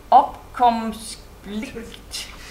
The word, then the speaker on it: opkomstplicht: It's opkomstplicht. It's spelled O-P-K-O-M-S-T-P-L-I-C-T.